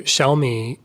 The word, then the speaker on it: Xiao: So small in Chinese is xiao, and that's the first part of Xiaomi, the word xiao. So you got the falling, rising tone, the third tone xiao, and then mi is mi.